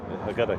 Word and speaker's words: Haggadah: What did you pronounce it? Haggadah, yeah.